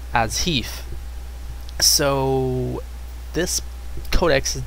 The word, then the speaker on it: HEIF: update included, so this new codex, you know, pronounced HEEF, makes it so that the videos and the